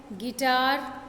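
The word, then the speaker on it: guitar: गिटार, है ना, यहाँ U साइलेंट है.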